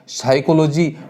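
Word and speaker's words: psychology: जाएगा इसी प्रकार से साइकोलॉजी शब्द इस प्रकार से लिखा जाता है लेकिन पी यहां पर साइलेंट होता है और बोला क्या जाता है साइकोलॉजी जबकि ऐसा देवनागरी लिपि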